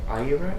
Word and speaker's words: Iero: You're here with Frank Iero. Is that the correct pronunciation?